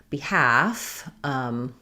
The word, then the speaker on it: behalf: comment about the word behalf, like on behalf of. Yeah, okay, so yes, the word half and behalf, there's the L is silent in both of those words.